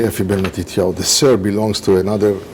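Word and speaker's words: Effie Ben Matityau: You say Efi Ben Matitiao.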